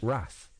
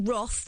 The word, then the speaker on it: Roth: movie well one of the worst screenwriter Eric Roth who I believe also responsible for A Star is Born I'm surprised you're not pronouncing that Eric wrath Roth yeah nor r o yeah normally you